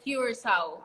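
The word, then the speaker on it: Curaçao: How do you pronounce it? Is it Curacao or Yes, it's Curacao.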